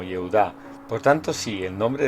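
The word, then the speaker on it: יהודה: el de Judá, y Judá es una transliteración del hebreo que en su forma no abreviada se pronuncia como Yehudá.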